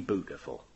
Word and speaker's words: beautiful: He told us that his turkey was bootiful, really bootiful. Bootiful is how you say beautiful in Norfolk, which is where Bernard Matthews lived.